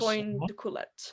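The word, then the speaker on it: Antoine D'Coolette: Antoine de Coulette, I think.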